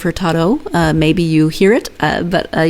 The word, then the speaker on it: Hurtado: And in Portuguese, when there's an O on the end of the word, it's pronounced as an oo. And I kept catching myself, and I don't think I caught all of them, saying Hurtado instead of Hurtado.